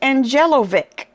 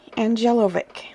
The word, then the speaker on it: Angelovic: out for you Kelly angelovic I hope I'm pronouncing that right some of these names are tricky Kelly angelovic like Angel o v i c okay and she has